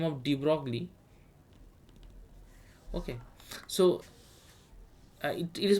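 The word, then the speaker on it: de Broglie: so then another scientist by the name of De Broly okay so it is pronounced as de bro huh it's not de de BR so he came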